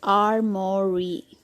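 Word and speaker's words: armoury: This word is armory. In British R is silent.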